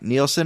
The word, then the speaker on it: Nielsen: Today I have Nielsen. Or is it Nelson or Neielson? Neielson. Neielson. Okay, good. I said it right the first time.